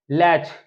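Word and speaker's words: latch: यहां पर क्या है जो होगा यहां पर साइलेंट होगा यहां पर है लच एल ए टी सी एच लच मतलब होता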